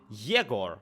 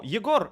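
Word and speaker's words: Yegor: say like old yogor this is actually how the names are pronounced like if an english-speaking person would would read that they would read it as jagor or yaguo or some stuff like that no yogor is the russian pronunciation we have very hard r and a very hard yeah and also all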